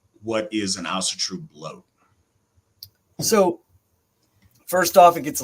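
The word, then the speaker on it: blót: a Nordic word and it's spelled b-l-o with a dash above it t emphasizing that it's an o sound brought uh grammatically in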